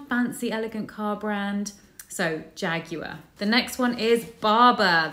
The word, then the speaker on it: Jaguar: We don't say it in the American way, which is Jaguar, I think. It's Jaguar. So they're the car brand, fancy, elegant car brand. So Jaguar.